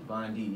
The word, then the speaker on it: Vondie: pronounce Vondie? Vondie, yeah.